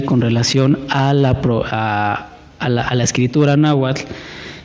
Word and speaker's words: náhuatl: Pero entre nahual y náhuatl o náhuatl, en primera, náhuatl lleva acento en la A, en la primera A, na, y tiene terminación TL, náhuatl.